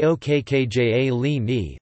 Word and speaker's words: Occhialini: Occhialini formemmers, Italian pronunciation, du spe okkja li ni, 5 December 1907 to 30 December 1993, was